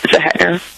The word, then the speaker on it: Zehetner: Did I pronounce yes. that right? Yes, Zehetner.